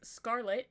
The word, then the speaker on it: Sckrltt: understand how reincarnation works, is Scarlet, spelled with no vowels, and it's spelled SCKRLTT, is how we've got it.